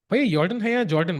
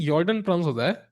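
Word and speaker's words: Jorden: Jordan, I think Jordan, that's what I know. Um, yeah, it looks like a J, but it sounds like a Y.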